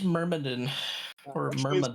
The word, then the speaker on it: Myrmidon: Miradons will not divide us. Actually, it's pronounced Myrmidon or Which means Myrmidon.